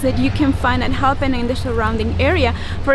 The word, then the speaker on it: Jalpan: Apparently I put the accent on the wrong syllable, and I can't say it correctly.